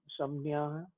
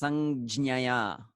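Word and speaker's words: संज्ञाय: Why the J is like silent? Samnya. Sanjnaya. Okay, that's a pronunciation thing. Some pandits, they pronounce it fully sanjnaya. But many scholars, they kind of that j kind of sinks down because it is not so comfortable to utter it together with nya jnya. So they kind of sanjnaya. They kind of swallow it. So technically it's sanjnaya.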